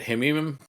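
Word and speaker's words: Hmeimim: They have a big air base nearby at Hemim. That's actually kind of how you pronounce it.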